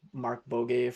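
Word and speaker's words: Markbåge: like Sebastian, I think his last name is pronounced Mark Bogue from Facebook, who's on the React team.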